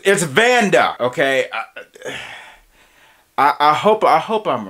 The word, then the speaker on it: Vannda: Queen B say, no, it was Vanda with the D. You were saying it right. Pause. But I was right with the D. The D is not silent. It's actually there.